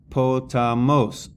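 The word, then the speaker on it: ποταμός: Potamos. Po, ta, mos. The acute is on the 3rd and final syllable.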